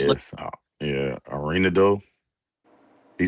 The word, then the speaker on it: Arenado: How you pronounce it? Yes, Arenado.